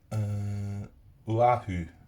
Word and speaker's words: Oahu: I keep saying Pearl Harbor, but it's Oahu. Yeah, so that's how you pronounce it anyway.